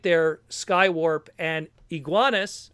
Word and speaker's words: Iguanus: right there, Skywarp and Iguanus, or Igneous, or however you want to pronounce it, it's Iguanus in this case, based off of the Generation 1 1988 Pretender.